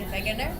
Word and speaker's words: Wegener: Alfred Wegener's name is actually pronounced Alfred Wegener because he's German, and he is the scientist who first thought of continental drift.